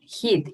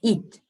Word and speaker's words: eat: Some of you guys, you pronounce heat. It's not heat, it's eat, eat, no more.